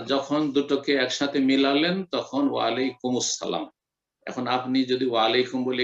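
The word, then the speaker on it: وعليكم السلام: যদি মিলিয়ে পড়েন ওয়াসল, যদি মিলিয়ে পড়েন আর আরবি মিলিয়ে পড়তে হয় এরকম ক্ষেত্রে তো ওয়ালাইকুমুস সালাম মিলিয়ে পড়বেন। আলটা তখন সাইলেন্ট হয়ে যাবে, আল সাইলেন্ট হয়ে তখন মুসালাম হয়ে যাবে, ওয়ালাইকুমুস সালাম। আর যদি সেখানে ওয়াকফ করেন, ওয়াসল না করে থেমে যান, তাহলে ওয়ালাইকুম আর আসসালাম, ওয়ালাইকুম যুক্ত আসসালাম, আর যখন দুটোকে একসাথে মিলালেন তখন ওয়ালাইকুমুস সালাম।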